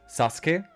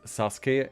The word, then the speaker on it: Sasuke: Like, for example, from Naruto, Sasuke, the antagonist or his best friend, either way, is not pronounced Sasuke in German. They call him Sasuke, which sounds incredibly stupid if you know the original pronunciation.